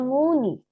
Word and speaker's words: 문의: Nah, tadi 문의하다 ya, tulisannya seperti ini tapi ya. 문 sama 의. Bacanya muni.